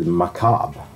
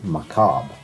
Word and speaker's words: macabre: with that but then my friend told me that how he cheated McCobb okay it's from French of course it's not that weird but you don't think that Americans says McCobb but I said no